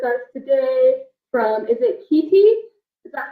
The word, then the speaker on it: Khetee: n here with us today from is it Kitty is that how you pronounce it yeah kitty kitty means following in